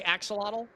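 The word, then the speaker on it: axolotl: Axelottle.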